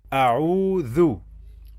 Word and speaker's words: أعوذ: In the first syllable we have alif. This is alif with fatha a. And in the second syllable we have two letters. The first letter is ayn with dhamma u. A'u a'u. We have long vowel wow. A'u. And then finally we have dhal with dhamma. Dhu. A'udhu.